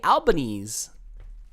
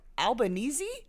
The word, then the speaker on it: Albanese: got it right Adele because you pronounce the e at the end of Albanese no no she also